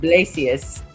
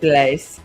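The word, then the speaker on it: Blasius: I think that's it's actually pronounced St. Blacius uh is the original St. Blaze.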